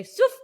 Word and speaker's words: Sfouf: That is just like we learned how to say swoof today.